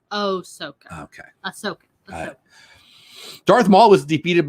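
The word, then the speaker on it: Ahsoka: guy all disney guy thinks you're saying it wrong it's oh soca okay darth maul was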